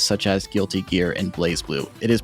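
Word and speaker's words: BlazBlue: fighting game franchises such as guilty gear and blaze blue it is pronounced blaze blue correct yes it is is pronounced blaze blue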